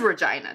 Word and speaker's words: Regina: Okay, yeah, because everyone says Regina. They said it's pronounced Regina. It is Regina. That's correct.